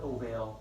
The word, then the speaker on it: ovale: But spell it ovale, pronounce it ovale.